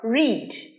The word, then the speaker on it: read: রিডের past tense রেড, কিন্তু স্পেলিংটা same রিডের মতোই। তাহলে এখানে পার্থক্যটা কি হলো? শুধু প্রোনাউন্সিয়েশন বা উচ্চারণে পার্থক্য। রিড আর তার পাস্ট টেন্স রেডের স্পেলিং কিন্তু একই, READ, কিন্তু প্রোনাউন্সিয়েশন ইজ রেড।